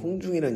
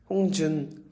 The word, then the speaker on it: 홍중: 저도 홍중이란 이름을 사실 어렸을 때는 좀 별로 안 좋아했던 게 어린 마음에 왜 보는 사람들마다 제 이름을 발음을 잘 못하시는 거예요. 홍준, 홍종, 홍준이 진짜 많았고 호중, 호준 막다 이렇게 얘기하셔서 제가 엄마한테 엄마 내